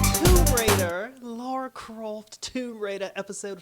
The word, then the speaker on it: Lara: like I always put Lara Croft like with a U and she so humbly put put in the comments section on one of my videos it's actually Lara it's not Laura it's I mean it's